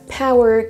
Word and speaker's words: power: Pour vous souvenir qu'on ne le prononce pas power, mais bien power.